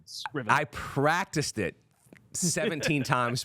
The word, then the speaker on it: Scrivener: Scrivener with a hard I. Yeah, hard C, hard I. Scrivener. I practiced it 17 times before. Scrivener.